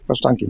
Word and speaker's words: Kasztanki: eine Spezialität besorgt und zwar was typisch polnisches, Kasztanki. Richtig ausgesprochen? Kasztanki? Ja, Kasztanki, ne?